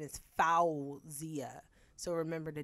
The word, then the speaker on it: Fawziyyah: forget how to spell it the real pronoun pronunciation is foul zia so remember the w f a w then